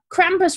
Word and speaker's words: Krampus: Like Krampus radio, like Krampus rhymes with campus.